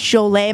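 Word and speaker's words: Jolé: Jolet, J-O-L-E, like Joel, but it usually has an accent on it, so it's Jolet.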